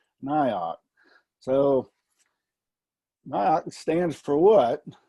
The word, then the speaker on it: NIOC: So the NG9-1-1 Interoperability Oversight Commission, the NIOC, I get the task of telling y'all what we're about with the NIOC. So exactly how do you pronounce NIOC?